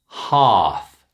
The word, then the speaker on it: half: Number one, father, bath, dance, spa, half. Did you notice silent L?